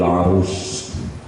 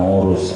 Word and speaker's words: Arus: Imam Ibnu Athaillah mau menutup pembahasan Tajul Arus, bukan urus, arus, dengan munajat.